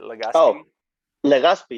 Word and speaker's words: Legazpy: say your last name correctly how do you pronounce it is it legacy yeah okay cool so um so caesar um